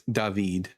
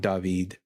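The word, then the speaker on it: דָּוִד: In Hebrew it's David. It's a long double E sound, David. And then it's just turned to a short I, David, or Dawid.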